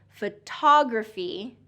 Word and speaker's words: photography: And also because of the word stress, it changes the vowels a little bit. So photography, photography, a lot of my students will say photography, photography instead of photography. So second syllable stress.